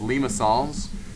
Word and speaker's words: limaçon: You got to be fancy like that, and you also have to say it like a French person.